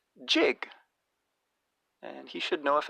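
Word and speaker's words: gigue: this on YouTube and he pronounces it the same as the word jig and he should know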